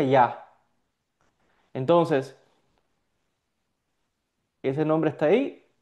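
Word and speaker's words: יה: Son dos letras y se pronuncia ya.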